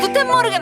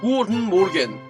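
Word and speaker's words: Guten Morgen: 한글 문제가 났어 일단 구텐모르겐 알겠어 구텐모르겐 사실 구텐모르겐 구텐모르겐이라고 발음 안 되고 굿 모겐이라고 발음해야 되는 거 아시죠 몰라요 되게 이제 독일의 악센트는 부드러우면서 강합니다 하나부터 천천히 볼게요 굿 모겐 모게 이게 그 코에서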